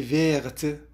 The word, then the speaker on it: verte: La robe est verte. حطينا لكلمة verte فأصبحت تلفظ الت، فنقول la robe est verte.